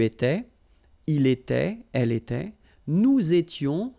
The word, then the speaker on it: nous étions: Okay, tu étais, il était, elle était, nous étions, little liaison here to make it more beautiful, nous étions, okay, final